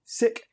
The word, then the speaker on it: Sikh: and by the way i'm saying sikh and sikhism on purpose that is the way that it's actually pronounced in punjabi and the way lots of six prefer it to be pronounced there are 25 million